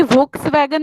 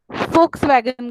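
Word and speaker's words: Volkswagen: यस, अब इसमें वी होता है लेकिन उसका प्रोनाउंसिएशन कोई वोक्सवैगन नहीं करता, फोक्सवैगन करता है।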